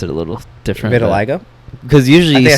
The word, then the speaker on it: vitiligo: I think he had uh what is it validigo oh Vitiligo God I always get that mixed up for no you said it right you should pronounce it a little different Vitiligo because usually you say no usually you say